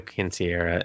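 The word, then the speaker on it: quinceañera: the subjects because they end up at a quinceanera and then he's like oh let's dance and they talk very hilariously explain what a quinceanera is that's how you say it but yeah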